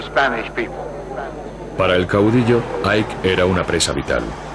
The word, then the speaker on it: Ike: Y le contesté, dicen Ike, que es como se pronuncia en español su apodo.